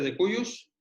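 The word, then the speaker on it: de cujus: llamamos de cuyos dibujos se escribe se pronuncia de cuellos este es un término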